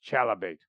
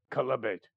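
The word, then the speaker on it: chalybeate: sometimes he would use chalibate or let's see this oh i've been pronouncing this wrong this is a c-h-a-l-y-b-e-a-t columbate which is a spring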